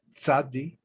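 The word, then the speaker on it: צדי: class so alif it's it's not just an s it's like a t s or t z as they show right here sadie kind of bounce it off that's uh it's like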